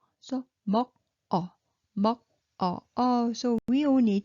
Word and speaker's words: 먹어: So 먹어, 먹어. So we all need to know all this pronunciation rule, but no worry too much. Okay, so when you see this silent one, okay, so moves over.